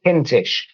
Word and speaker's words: Kintish: hello there my name is pause kinsh in other words the reverse of the James